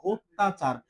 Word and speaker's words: অত্যাচার: এই যে ত জফলা আছে, ত জফলা থাকলে কি হবে? দুইবার উচ্চারণ হবে। জফলা থাকলে এটা দুইবার উচ্চারণ হবে। অত্যাচার, এই যে হয়টা হসন্ত হবে এখানে অত্তা, তো আকার আছে, তো আকার